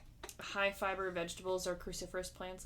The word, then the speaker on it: cruciferous: avoiding you know like high fiber vegetables or cruciferous plants like broccoli and cruciferous cruciferous yeah cruciferous cruciferous like cix you're making that word like